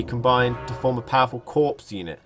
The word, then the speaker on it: corps: Similar units can also be combined to form a powerful corps unit. Hopefully I'm pronouncing that right, because it doesn't sound right. It sounds like I'm saying corpse.